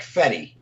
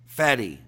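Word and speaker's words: Fedde: It's Eric Fetty. Fetty. He's a UNLV guy, so we want his name pronounced correctly on this show.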